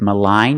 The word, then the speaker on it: malign: it's a malignant tumor we see the pronunciation difference with malign you have the long i malign and with malignant you have the short eye the e sound a Lig malignant let's